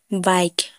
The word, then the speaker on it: bike: जैसे बाइक, BIKE बाइक, last में ई है तो हम इसे उच्चारण नहीं करेंगे।